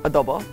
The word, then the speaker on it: adobo: like Vats of adobo she doesn't like the way I pronounce adobo adobo is that better and then I Chuck